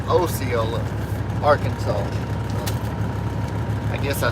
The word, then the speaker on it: Osceola: I got corrected the other day. It's not Osceola, it's Osceola, Arkansas.